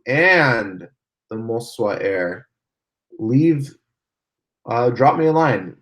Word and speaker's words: Moza: Scott is asking, do I have the Moswa Air? And yes, it is pronounced Moswa, not Moza. Moswa Air, that's how you pronounce it.